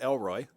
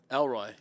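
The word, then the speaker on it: El Roi: round pick yeah was el rohi oh god the god who sees me yes and it's e-l-r-o-i r-o-i some people pronounce it elroy elroy his boy elroy yes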